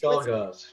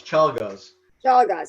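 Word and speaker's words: Czolgosz: guy who killed McKinley, whose name I can't pronounce. Chalgaz. It's hard to pronounce. Chalgaz.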